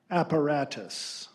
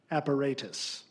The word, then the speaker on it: apparatus: Your word is apparatus. Apparatus. Alternate pronunciation, Apparatus.